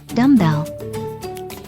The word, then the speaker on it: dumbbell: one as well dumbbell the b in dumb is silent when dumb and bell